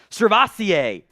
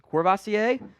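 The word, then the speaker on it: SirVocea: Fun fact, he's named after the French cognac. I think it's pronounced Courvoisier, after his father heard the drink one night at a restaurant.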